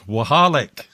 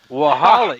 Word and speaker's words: Waholek: How do you pronounce that again? Waholek. Waholek.